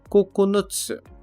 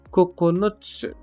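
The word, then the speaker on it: ここのつ: Setembro que é kug a segunda leitura desse Candi é o Cocon Cocon que usamos na contagem de nove unidades coconuts coconuts como também na palavra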